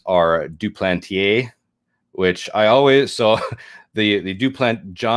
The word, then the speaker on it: Duplantier: It's just Duplantier.